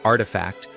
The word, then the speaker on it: RTFKT: Pronounced artifact, the brand was founded by three creatives blending gaming, cryptoculture, and luxury streetear aesthetics.